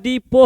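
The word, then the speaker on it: depot: a word क्या है डिपो है ए वर्ड क्या है डिपो डिपो का स्पेलिंग क्या होता है देख लीजिए डी ई पी ओ टी इसमें टी साइलेंट होता जाता है है ना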